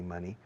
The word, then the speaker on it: money: money money money money money rima con gracioso funny funny money device money honey